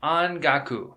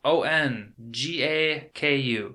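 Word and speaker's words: ongaku: is the japanese word for music it is on gaku that is spelt o-n-g-a-k-u on gaku and that is japanese word for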